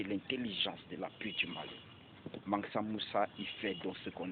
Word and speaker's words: Mansa Moussa: Pour ceux qui ne connaissent pas Massa Moussa, Mansa Moussa, je prononce mal le nom de Mansa Moussa, mais c'est Mansa Moussa.